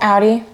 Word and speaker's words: Audi: How do you pronounce it, Shayla? Audi.